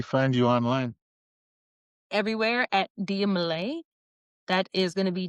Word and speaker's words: Dia Malai: Everywhere at Dia Malay. That is going to be Diamalai, but that's on all platforms except for TikTok.